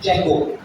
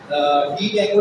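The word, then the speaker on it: Django: जेंगो डी जेंगो लिखा हुआ है, डी साइलेंट है, तो इसको इस वजह से इसको जेंगो पढ़ा जाता है। तो और जेंगो ही बोलिएगा, आपको कहीं इंटरव्यू वगैरह में ना डी जेंगो मत बोलिएगा, बोले कहाँ से पढ़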